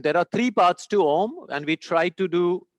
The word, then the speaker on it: Om: say how to pronounce ohm it's simple you start with taking a deep breath you open your mouth ah you don't have to change anything just half close the mouth ah becomes ooh and fully close the